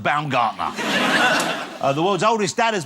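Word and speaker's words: Baumgartner: he had to say to someone no not bumgardner it's pronounced bam Gardner the world's oldest dad has been announced he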